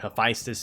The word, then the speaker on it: Hephaestus: the actual male deity of the blacksmith, and Hephaestus being how you pronounce her name in danmachi, because Hephaestus is female in danmachi.